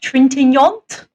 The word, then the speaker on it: Trintignant: Trintignant?